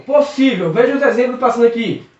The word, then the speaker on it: possível: Possível. Possível. Veja os exemplos passando aqui. Possível. Possível acentua-se porque a sílaba tônica é o sível.